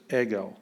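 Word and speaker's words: ἐγώ: epsilon and we have a smooth breathing mark the snowplow is not moving much snow this way so it doesn't make any sound all right so it's just eggo whenever you have a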